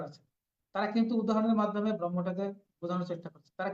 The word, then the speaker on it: ব্রহ্ম: দেখুন উপনিষদের যারা লেখকরা আছে যারা ভাষ্যকার আছে তারা কিন্তু উদাহরণের মাধ্যমে ব্রহ্মটাকে বোঝানোর চেষ্টা করছে। তারা কি বলেছেন? ব্রহ্মের মধ্যে এই উচ্চারণটা কিন্তু সঠিক শব্দ হচ্ছে ব্রহ্ম।